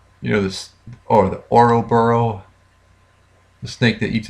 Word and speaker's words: Ouroboros: So I'm pretty sure that it was some sort of how do you pronounce that word? Oro. You know, this, or the Ouroboros, the snake that eats its tail.